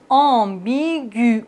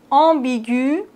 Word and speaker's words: ambigu: ou bien digue mais quand le tréma s'opporte sur la lettre U il nous indique qu'on doit prononcer le U regardez bien ambigu on n'est pas en